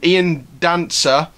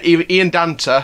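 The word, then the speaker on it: Ian Danter: out to ian um ian dancer uh ian dante sorry i keep saying it wrong ian dante from talk sport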